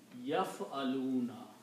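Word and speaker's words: يَفْعَلُونَ: letters in the middle, it will be pronounced as yaf'aluna.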